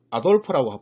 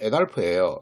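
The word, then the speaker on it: Adolf: 바로 아돌프라고 부르는데요. 아돌프의 정확한 발음은 에달프예요.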